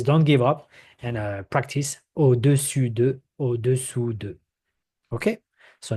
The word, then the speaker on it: au-dessus: Now we have au-dessus, au-dessous. So above and below. So I don't know if you can hear the difference. I'm gonna repeat, but try to get it.